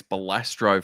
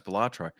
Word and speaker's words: Balatro: No, see, it's funny because I keep thinking it's Balastro for some reason. And I have to keep looking at no, it's Balatro.